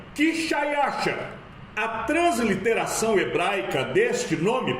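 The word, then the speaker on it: Xšayāršā: A pronúncia do nome deste rei em sua própria língua seria Quixaiaxa.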